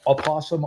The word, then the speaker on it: opossum: O is silent.